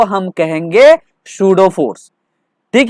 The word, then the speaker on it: pseudo: तो उस फोर्स को हम कहेंगे सूडो फोर्स। कौन सा फोर्स? सूडो force. इसका स्पेलिंग है PSEUDO, सूडो फोर्स।